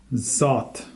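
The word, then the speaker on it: صد: number 100 is called salt salt so spelled just like sat in English but pronounced slightly different like salt Zod there's yeah you can tell the difference between sat and salt and this word right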